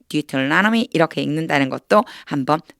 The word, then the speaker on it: Deuteronomy: 나누어서 암송을 해 보도록 하겠습니다 신명기가 조금 어렵죠 미라고 읽어요 deuteronomy deuteronomy 이렇게 읽는다는 것도 한번 봐 주세요 자 신명기